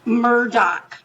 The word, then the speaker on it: Murdaugh: name is murdaugh it's m-u-r-d-a-u-h they call it Murdoch Murdock right they say Murdoch they say Murdock they